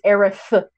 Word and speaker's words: Aerith: Okay, to be fair though, to be fair to Kingdom Hearts, it did confirm Aerith versus Aerith. It's Aerith.